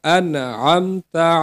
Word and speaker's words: আনআমতা: ইহদিনাস সিরাতাল মুস্তাকিম সিরাতল্লাজিনা আনআমতা আলাইহিম সিরাতল্লাজিনা আতা আলাইহিম এখানে আম হবে না হামজা নুন জবর আন আতা আলাইহিম আমার সাথে উচ্চারণ সিরাতাল্লাজিনা আনআমতা আলাইহিম।